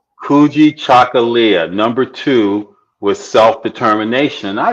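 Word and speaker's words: Kujichagulia: second okay what was the word how you pronounce it again kuji chagalia kuji chocolia number two with self-determination I may Embrace that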